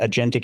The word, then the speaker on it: agentic: How do you pronounce that? Agentic. Okay, so you just pronunciate the A.